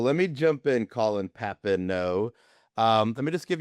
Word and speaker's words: Papineau: So, last name is Papineau. It's French. Uh easiest way to ever try to remember it, pap-in-oh. Simple. Pap-in-oh. Well, let me jump in, Colin Papineau.